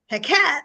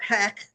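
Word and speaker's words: Heqet: another plague okay and heat or heck depending on how you pronounce it um was a froe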